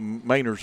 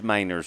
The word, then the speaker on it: Manners: And one more that we have to remind ourselves of, it's the Mainers boys, even though it's spelled like Manners. Yeah, it's Mainers.